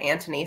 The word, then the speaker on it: Anthony: her brother yeah yeah so it's spelled anthony but they said it antony so i started calling